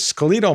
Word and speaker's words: skeletal: if I use the UK K pronunciation which is scal muscle because that's a regional difference and by the way